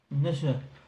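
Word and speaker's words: 那須: Et donc c'est l'hôtel Épinard Nasu, j'imagine qu'on dit le U en OU. En fait on le prononce à peine donc ça fait Nassé. Nasu.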